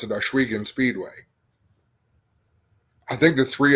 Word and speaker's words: Ohsweken: Yeah, it's Ohsweken. They say it really fast, kind of like Newfoundland. It goes by quick, and you don't really hear all the pronunciation. But I think the biggest thing I hear is Osh. It's not Osh, like Oshkosh.